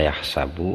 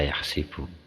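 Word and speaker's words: يحسب: Maksudnya ada yang hasiba yahsabu, ada yang hasiba yahsibu. Bacanya dua itu. Jadi yahsibu sama yahsabu. Ini qiraah sab'ah.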